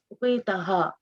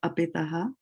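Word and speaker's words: उपेताः: So you see why she said apetaha, up, because English, right?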